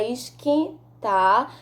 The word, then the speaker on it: esquentar: apenas um som então quando falamos a palavra esquentar não pronunciamos o quê uh quando falamos a